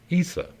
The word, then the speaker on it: Isa: possibly Scandinavian or gothic in these language languages the name is pronounced Isa meaning ice or water in its most passive